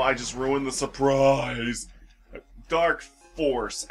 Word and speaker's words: Dark Falz: just ruined the surprise dark force actually dark Falls is a mispronunciation that for some reason or another was just continued in the Fantasy Star